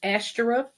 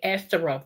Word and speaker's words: Ashtoreth: And Ishtar is not said Ishtar in the Bible, it's Ashteroth. Okay, Ashteroth, the one I spelled first.